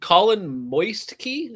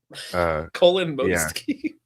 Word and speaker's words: Kolomoisky: Colin Moistky? Is that how you pronounce that? Colin Moistky. Yeah, pretty close.